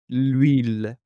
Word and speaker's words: l'huile: Nous avons un nom qui commence par un h muet, l'huile.